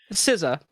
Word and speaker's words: SZA: I pronounce the way I look at SZA is the way you would pronounce like the two members of the Wu-Tang Clan. Everyone calls them RZA or GZA.